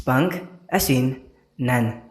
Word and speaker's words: Pangasinan: word Pangasinan came from the correct pronunciation of Pangasinan is pang asin nan which means for location